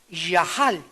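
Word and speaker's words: יָחַל: que es la palabra yahal. Yahal, se escribe yachal con C. Pero se pronuncia Yahal, que significa, aunque me quite la vida, seguiré confiando en que Dios es bueno.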